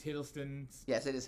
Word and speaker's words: Hiddleston: i said it wrong um i think it's hiddleston yes it is hiddleston i was correct i think it's his uh